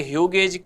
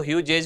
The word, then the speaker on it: Hughes: ये ह्यूगेज, कभी कभी आपको ह्यूजेज भी मिल सकता है, प्रोनाउंसिएशन अलग अलग होता है, HUGHES इसका नाम है।